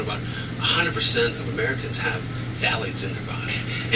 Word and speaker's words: phthalates: And then the most important one I would say that everyone should know is called phthalates. Phthalates. Phthalates. It's spelled with a PH.